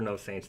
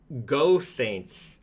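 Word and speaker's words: Geaux Saints: the chat who know they know I'm sure no Saints knows um just just teasing you a little bit uh it's actually pronounced go Saints ah oh all right so like a football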